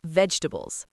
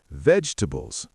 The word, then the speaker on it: vegetables: Also, vegetables. Native speakers often say vegetables, not vegetables.